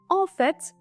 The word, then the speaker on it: au fait: kesinlikle diyoruz on fet Şimdi de ofet bir Bakalım burada da yine fet şeklinde telaffuz ediyoruz yani Saki T okunuyor istisna gibi de düşünebilirsiniz ofet ofet şeklinde telaffuz ediyoruz